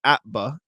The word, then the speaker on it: APBA: on baseball for the APBA, pronounced APBA, not spelled out.